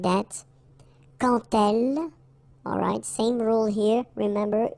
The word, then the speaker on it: quand elle: So like that, quand elle. Alright, same rule here. Remember, when you will have this D, you will phonetically pronounce it like T.